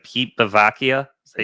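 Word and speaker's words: Bevacqua: Pete Bvakia. Is that how you say his name? Yeah. Pete Baky.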